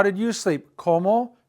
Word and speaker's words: cómo: ¿Cómo? Interrogative, accent on the first O.